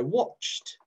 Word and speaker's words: watched: we say it i watched i watched i watched that's how i say it but it's actually spelt with an e d okay i watched say it as watched spelt it as e d okay it's tricky